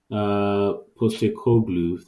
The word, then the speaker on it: Postecoglou: In terms of stock, in terms of the manager, I think Postecoglou, that's how we pronounce his name.